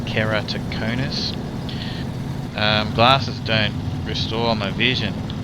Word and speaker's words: keratoconus: Okay, so I can't get emergency glasses because basically I've got a thing called keratoconus, which is spelt with a K, and it's pretty much spelt the way it sounds, keratoconus.